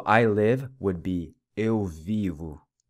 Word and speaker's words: vivo: So I live would be eu vivo. The O again pronounced like a U.